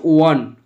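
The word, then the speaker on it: one: দেখো প্রথমে আছে ওয়ান, ও এন ই, এর উচ্চারণটা হচ্ছে ওয়ান, ও অন্তস্থ একা দন্তের ন।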